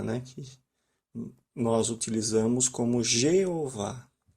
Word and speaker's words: Jeová: nós utilizamos como Jeová eu digo forma Latina porque a língua hebraica não usa o som do J aqui seria i i eov e não J eles não nenhum uma letra na língua hebraica tem esse som de J nenhuma tem esse som somente na nossa